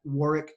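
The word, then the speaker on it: Warwick: on LinkedIn we're at Warick War's name is spelled with that silent W in the middle it's w r w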